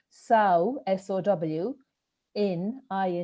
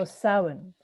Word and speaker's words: Samhain: the word saohan means it's spelt s-a-m-h-a-i-n which is a gaelic word but it's pronounced sow in in so sauen and in in ireland